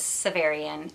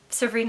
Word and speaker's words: Severine: I've been saying it in my head wrong for like 7 years, 8 years. And I even looked it up years ago and was told it was Severian. Actually, it was like some writer's name and they were pronouncing it. I was like, I guess that's how you say it, but it's Severine.